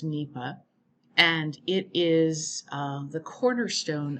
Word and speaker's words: NEPA: environmental statute that was enacted by congress it's pronounced nepa and it is the cornerstone of environmental analysis